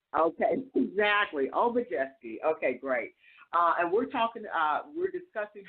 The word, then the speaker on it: Obijiski: It's Obijiski, just like it looks. All mostly eyes. Okay, exactly. Obijiski.